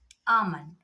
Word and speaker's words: almond: talk, calf, calm, balm, almond. If you look at all the words, before L, if you have A, O, U, the L becomes silent.